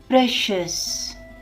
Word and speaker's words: precious: Time is precious. Precious. How to pronounce it? Shus. Now it is precious. Likewise, delicious. Delicious.